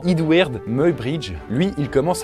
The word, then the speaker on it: Muybridge: Et là, on a un certain Edward, du coup ça se prononce comme ça apparemment, Edward Muybridge.